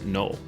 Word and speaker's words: Noel: Most of the year, however, the residents pronounce the town as null.